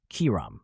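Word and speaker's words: Chiram: or fire of nature in one word kiram not ham Albert Pike mentions several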